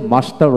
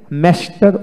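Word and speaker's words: master: মাস্টার, এখানে দেখেন মাস্টার, ব্রিটিশে মাস্টার উচ্চারণ করা হয়, আর আমেরিকানে ম্যাস্টার উচ্চারণ করা হয়, ম্যাস্টার, কিন্তু আমরা ম্যাস্টার উচ্চারণ করি না, মাস্টার।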